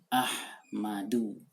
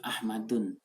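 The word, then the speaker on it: أَحْمَدُ: Contoh apa? Ahmadu. Tidak pernah disebut Ahmadun.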